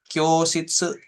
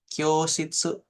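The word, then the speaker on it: 教室: Kemudian sama Kyoshitsu, Kyoshitsu. Jadi cukup O-nya dibaca, U-nya nggak usah. O-nya panjangin dikit.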